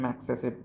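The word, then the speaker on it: Magsaysay: इसका प्रोनाउंसिएशन है मैक्सेसे guys, मैक्सेसे award.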